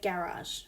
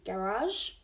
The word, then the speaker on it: garage: So for example, we have the word garage. Okay, so there's the French styled pronunciation with the soft G, garage. Okay, and then we also have the English styled pronunciation which is a hard J sound.